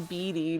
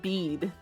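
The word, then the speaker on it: Bede: I was going Beatty just because I am a simple person. I see an E and I pronounce it as an E. Wait, it's based on an actual name that's pronounced like bead.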